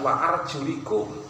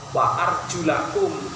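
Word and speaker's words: وَأَرْجُلَكُمْ: pendapat ada dua pendapat harusnya ini membacanya bukan wa arjulikum tapi dibaca WA arjulakum Mengapa karena top kepada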